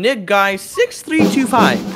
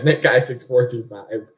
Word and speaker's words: Nickguy6425: You said my name wrong. What do you mean? Yeah, it's Nickguy6425. It's numbers.